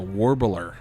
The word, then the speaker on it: Warbler: And we are actually recording today at the Warbler.